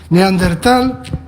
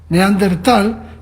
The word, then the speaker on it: Neandertal: Neandertal, en alemán, significa el valle de Neander. Tal es valle en inglés. O sea, es valle de Neander. Neander no es una palabra alemana, sino que significa hombre nuevo en griego. Es un nombre que le puso un ilustrado en el 18. Entonces, si tú piensas el valle de Neander, Neandertal, como valle de Neander, siempre lo pronunciarás bien.